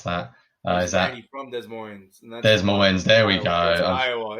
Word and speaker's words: Des Moines: Des Moines. I can't pronounce that. Is that Randy from Des Moines?